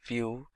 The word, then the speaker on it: Vue: complete web application solution vue.js is commonly referred to as View and pronounced as vuejs